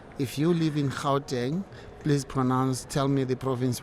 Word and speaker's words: Gauteng: I end up saying, if you live in Gauteng, please tell me the province where you live. And they say Gauteng. I said, that's exactly how to pronounce the name of the business.